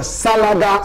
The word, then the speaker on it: Salaga: It's called a Salaga Soldier. Salaga is spelled S-A-L-A-G-A.